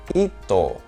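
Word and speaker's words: 一頭: al 10 vale tenemos uno que sería ito que tiene esa lectura un poquito de contracción de ichi y to sería ito no icho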